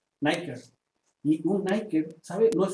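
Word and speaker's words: νίκη: palomita Nike o Nick en griego se pronuncia niker niker un niker sabe no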